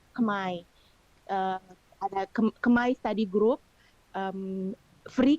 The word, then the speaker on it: Khmer: Nah, mereka punya kelas bahasa Kambodia disebutnya tulisannya Khmer, tapi di pronounce-nya Khmer.